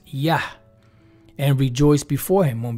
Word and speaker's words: יה: Here it says Jah, but we know it's Yah.